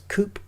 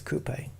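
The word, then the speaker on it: coupé: But it's it's coupe because the the e has got the accent above it, like cafe. Cafe. Coupe. It is coupe. It's not coupe. Um, but yeah, coupe for a twodoor.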